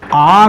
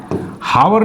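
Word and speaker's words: hour: लगाओगे बेटा article an तो यहां पर आर होता है बेटा है ना आर हावर नहीं होता है ठीक डोंट प्रोनाउंस है ना गलत नहीं प्रोनाउंस करना ठीक इस तरीके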